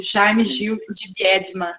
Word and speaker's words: Jaime Gil de Biedma: E eu não conhecia o poeta que você analisa, Mike, o Jaime Gil de Biedma. É assim a pronúncia?